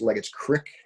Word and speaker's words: Leggett's Creek: In Scranton, it's pronounced Leggett's Crick, for all of you that are fans of improper local vernaculars.